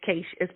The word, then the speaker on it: Keisha: Your name is Keisha, is that correct? It's Keisha. It's Keisha.